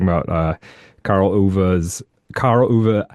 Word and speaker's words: Ove: uh Carl Uva's Carl UVA. I looked up ways to pronounce it. Apparently it's UVA. I don't know. But UVA. Okay. That's how I heard him say it one time. So, um, uh, yeah, we're